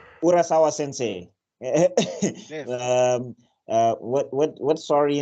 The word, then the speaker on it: Urasawa: Urasawa. Yeah. Urasawa sensei.